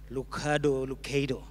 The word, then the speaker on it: Lucado: Is that the correct way of pronouncing it? Or Lucado? Okay. Lucado.